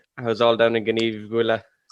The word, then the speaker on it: Gneeveguilla: to her, but I said, I think I pronounced it wrong. And she said, Gneeveguilla. And I was like, okay, I definitely pronounced it wrong anyway. How did you say it again? Gneeveguilla.